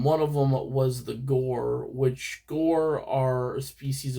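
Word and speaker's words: gaur: They're huge compared I mean they're but they're called gore. Um gar I think you actually is the right pronunciation.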